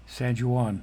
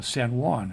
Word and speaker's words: San Juan: henta Morgan Beaver cash sanjan no no no San Juan I do I do know how to pronounce that Millard jwab Kain boxelder